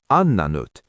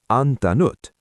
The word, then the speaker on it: antanut: You keep both t's. How do you say I didn't give n antanut. Exactly. You don't say ananut. You say antanut.